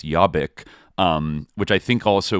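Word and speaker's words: Jobbik: called I you know Hungarians pronounce, but I think it's Yabik.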